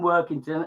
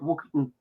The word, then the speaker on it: Workington: A bit sad really, but I've lived all my life in Workington, and I should say that we call it Wookington in Cumberland. We have a local accent.